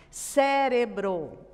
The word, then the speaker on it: cérebro: Cérebro. Cérebro, mesma coisa. A sílaba tônica é o sé.